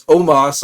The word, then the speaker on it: Omos: I'm told it's pronounced with an A, not an O. Don't know why he doesn't spell it with an A, but nevertheless, it's Omos, I'm told.